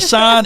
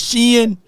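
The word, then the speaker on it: Shein: the Shen okay she oh that's how you say it's not Shan it's Shen I thought I think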